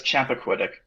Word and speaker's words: Chappaquiddick: I can't pronounce the name of the lake that it was. It's it's Chappaquiddick.